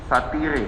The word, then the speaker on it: satire: Kalau ahli bisa jelaskan terkait apa yang di pemahaman saudara ahli terkait satire. Satire itu apa satire? Satir. Satir yang saya Ya, ejaannya satire. Bacanya satir. Ya.